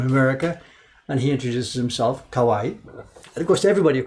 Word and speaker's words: 河合: His name doesn't have 2 eyes. His name just has 1 eye. It's 3 syllables. Ka-wa-i, kawaii.